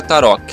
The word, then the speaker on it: tarok: se pronuncia a rota no leste europeu se escreve assim se pronuncia tarok na frança e nos